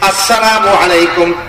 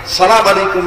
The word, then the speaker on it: আসসালামু আলাইকুম: আসসালামু আলাইকুম ওয়া রাহমাতুল্লাহ। বলেন আসসালামু আলাইকুম ওয়া রাহমাতুল্লাহ। সালাম কিন্তু শুদ্ধভাবে দেওয়া লাগবে। শুরুতে হামজা আছে, আলিফ আছে। আসসালামু আলাইকুম। সালাম আলাইকুম না।